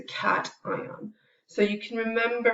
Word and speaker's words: cation: call that a cation it's not a Cashion it's a cation so you can remember